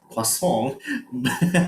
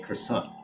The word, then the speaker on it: croissant: it's not her son it's quesong but in in the u.s in in america people will say croissant okay croissant and fiance